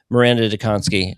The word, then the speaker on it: Maranda Dziekonski: Miranda Donssky, uh, first of all, speaking of studying, you